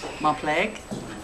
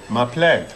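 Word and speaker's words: Mar pleg: Ma pleg. Ma pleg.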